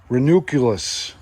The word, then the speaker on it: Ranunculus: You called it binoculars before. Here it is. Ranunculus.